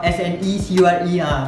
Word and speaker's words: SNECURE: which is called SNECURE, S-N-E-C-U-R-E, pronunciation dia SNECURE.